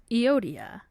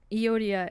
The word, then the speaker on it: Euodia: Philippians 4:2-3 says, I urge Euodia and I urge Syntyche, which I Googled how to pronounce their names, and I think that's how you say it, to agree in the Lord.